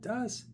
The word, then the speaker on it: DOS: Das.